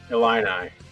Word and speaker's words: Illini: How do you say it? Illini.